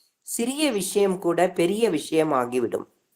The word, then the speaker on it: sang: இப்ப பிளட்னு போட்டா பிளட்டுக்கு வந்து பிரெஞ்சுல சான் தான், அதுவும் SANG. அப்போ 3 ஸ்பெல்லிங் ஒரே உச்சரிப்பு. SANG சா அப்படின்னா பிளட், CENT சான்னா 100, அதுவும் வந்து அதே உச்சரிப்பு.